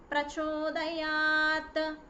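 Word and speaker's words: प्रचोदयात्: Dhiyo yonah prachodayat. The ta sound should be visible. Okay, it should be pronounced.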